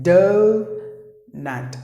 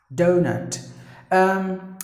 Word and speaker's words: doughnut: But actually, letter U, silent, letter G, silent, letter H, silent. The remaining, DOUGHNUT. I'm sure you know that, but then if you don't, donut.